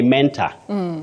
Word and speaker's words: mentor: to this other one do we say Mentor Menor her um that is m e n t o r oh Betty you can agree with me that many people innocently underline that word or Mark that word innocently many people say Mentor so and so is my mentor Mentor no not in standard English you say Mentor my mentor just like you